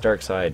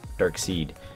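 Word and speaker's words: Darkseid: guys's comments saying that no it's pronounced dark side it's not dark seed I'm sorry I feel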